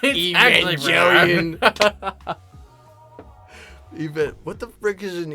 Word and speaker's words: Evangelion: Ghost just materializes and be like, it's actually pronounced Evangelion.